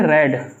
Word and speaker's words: read: Third form क्या होगी, रेड, रीड, रेड, रेड, ठीक है, स्पेलिंग वही रहेगी। तो हमारी first second third form same होती है, बस बोलने का तरीका बदल जाता है, आवाज़ बदल जाती है।